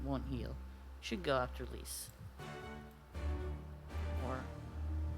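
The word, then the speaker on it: Lyse: Should go after lease or I'm pretty sure at this point it's probably pronounced Li. Or at least that's how they pronounce it with the uh in the Japanese version.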